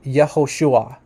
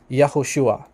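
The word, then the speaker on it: יהושע: d-dot says here that the classical pronunciation which means like the pre-exilic name of of yeshua is actually yahushua yahushua okay so this is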